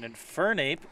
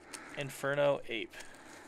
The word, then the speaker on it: Infernape: a psa got eight infernape level x it came back aside you're putting the wrong emphasis on the wrong syllable wait infernape infernape infernape infernape inferno ape we got solomon's level